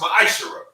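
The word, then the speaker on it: מעשר: Means 10th in Hebrew, is pronounced ma'ashara.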